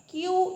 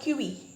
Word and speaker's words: queue: Queue, that is queue, not QE. Okay? The pronunciation is queue.